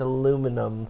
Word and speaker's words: aluminium: And then they used aluminium pens. Aluminium. You say it like a fool. Aluminium. It's aluminum.